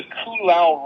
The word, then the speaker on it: Ko'olau: There's one, it's called the Koolau Range. Ko'olau.